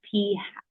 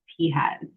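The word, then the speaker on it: p̂: this and it's pronounced P hat so it's just the little thing on top is just a little hat and we just call it P hat silly name okay so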